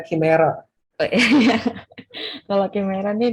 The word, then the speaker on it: chimera: Yang Cimera. Ya, semuanya. By the way, dibacanya Chimera.